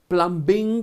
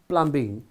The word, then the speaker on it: plumbing: So B is silent here.